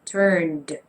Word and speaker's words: turned: It's supposed to be turned with a D.